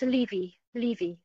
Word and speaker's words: Levy: is Levy or Levy. Yes, that's me. Are you able to hear me? I can hear you. And which pronunciation is correct, if either? Is it Levy or Levy or? It's Levy.